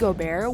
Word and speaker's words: Gobert: Full Disclosure: for clarification, Rudy Gobert (pronounced go-bear) was not included in the poll of NBA players asked, because his opinion on most things is worthless.